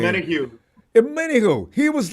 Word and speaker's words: Omenihu: He had a very how do you pronounce that name? Omenihu.